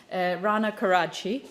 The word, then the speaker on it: Rana Karadsheh: So I'll give you the proper pronunciation of my very complicated last name. Rana Karadsheh.